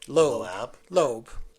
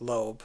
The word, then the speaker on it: LOAB: Just a few characters that said LOAB. Lobe. She decided to pronounce it Lobe. Okay. That's what this entity became known as Lobe.